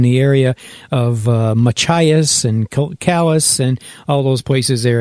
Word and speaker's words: Calais: The Second Baptist Church, get this, in Calais, Maine. That's Calais. Those of you who are French probably pronounce it Calais. Calais. She called it Calais, my friend Pat.